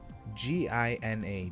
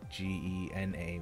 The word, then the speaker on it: Gina: Gina, Gina. That's how you pronounced it. It's not like Gena, which I think would be, like, you know, it would make more sense.